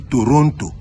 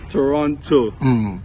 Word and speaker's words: Toronto: A lot of people like to say Toronto because they see the T at the end. But when you're in Toronto, you know that second T, that one is silent.